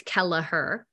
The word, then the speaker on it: Kelleher: I always tell them it's 3 syllables. It helps with the spelling. So it's Kelleher.